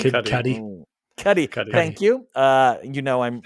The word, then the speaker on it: Kid Cudi: Steve's Lava Chicken surpasses Kid Cudi's I'm pronouncing that wrong. Kid Cudi, right? Kid Cudi.